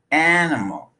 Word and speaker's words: animal: letter a machine machine the word animal has three syllables the first syllable is stressed but the second and third syllables are reduced to up even though they're spelled with an i and an a animal animal the word banana also